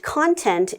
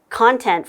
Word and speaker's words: content: they can sometimes uh mix up the pronunciation for content for Content which is another way to say this but it has a totally different meaning uh meaning to be happy with right in that case content is an adjective whereas content is a noun so usually based on the usage you would know the correct pronunciation okay getting back to